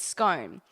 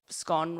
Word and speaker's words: scone: So the other way people say it is scone. So the two choices are either it rhymes with bone or scone rhymes with gone.